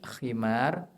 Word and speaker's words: khimar: Nah, kalau pakai ko itu khimar artinya pakaian yang menutupi. Makanya ibu-ibu diperintahkan untuk makai khimar. Tapi kalau pakai ha itu artinya keledai. Maka jangan salah membacanya.